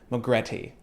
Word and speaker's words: Magrette: about a little brand from New Zealand called McGraw tea and that pronunciation is taken directly from their website you